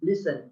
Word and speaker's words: listen: Not pronounced in a word, such as castle with silent T, island with silent S, and listen with silent T.